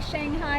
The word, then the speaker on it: Shanghai: Is it Shanghai? Shanghai. How do you say it? Shanghai.